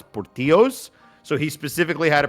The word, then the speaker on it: Portillo's: make it more Americanized, so it is pronounced Portillo's, and it is a conscious choice by the owner, according to the lore.